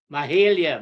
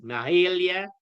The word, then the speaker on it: Mahalia: Mahalia, may I advise? Mahalia McCalman. Regional Vice President Borbis. I correct myself in the pronunciation of the first name.